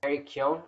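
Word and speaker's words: Barry Keoghan: And Eric Kyon, I think is how you pronounce his name, who played Druig in the Eternals.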